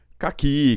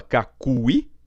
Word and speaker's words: caqui: Por que eu risquei o U? Porque você não fala cacui, né? Cacui. Você fala caqui, esse U não é pronunciado, logo, se ele não é pronunciado, ele não é contado, né?